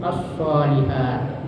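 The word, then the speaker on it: الصالحات: sehingga lamnya itu tidak terbaca ya meskipun tulisannya tetap ada. Jadi bacanya itu asolihat dari lamnya itu dimasukkan ke dalam shad atau ditasdidkan huruf shad sehingga lamnya tidak terbaca.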